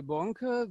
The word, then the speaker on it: Bonk: Bonk will moderate the session. Okay? please. Yes, also from me, welcome to our third Consolfood webinar. My name is Bonke, the German pronunciation, and I'm a member